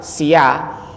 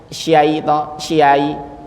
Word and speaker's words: ش: kita se hari-hari Ra kalau s itu gimana sia tapi enggak bukan Sia auzubillahi syai bukan Sia tapi Sya itu simbol simbolisasi saja transliterasi itu kalau misalnya Bapak